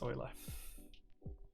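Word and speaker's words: Euler: then say it so I just read it as Ula because that's how it's spelled so that's how just how my logic brain works sometimes but I do know that it's Oiler really recommend visiting Sweden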